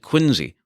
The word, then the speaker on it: Quincy: certainly more than one Quincy although I think in Massachusetts they pronounce it Quincy all very confusing but